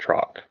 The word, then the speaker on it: Truax: And then, John, the spelling's different. I think it's pronounced Trock.